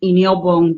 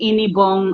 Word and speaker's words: Inyobong: far away from home, a lot of people found it difficult to pronounce the name Inyobong. They were now saying Inibong and all sorts of stuff.